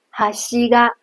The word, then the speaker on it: 端が: 比如哈西嘎，因为它是平板型，所以连在后面的那个嘎也都保持在同一声调上，没有任何起伏。